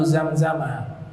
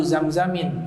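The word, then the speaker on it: زمزمَ: Nabi bersabda, khairu ma'in ala wajhil ardi ma'u Zamzama. Zam-Zam dibacanya tidak tanwin, ya, makanya dibaca fathah, ma'u Zamzama. Jangan dibaca ma'u Zamzamin, ya, ma'u Zamzama.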